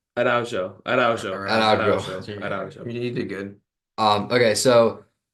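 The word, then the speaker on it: Araújo: Did I pronounce that wrong? Araujo, Araujo, Araujo. Araujo.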